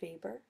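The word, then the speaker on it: Weber: we've got Max vber his last name is pronounced vber he responded to Marx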